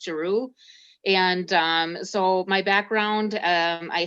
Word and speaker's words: Giroux: My last name is pronounced Giroux. I know a lot of people like run away from that, but it is pronounced Giroux.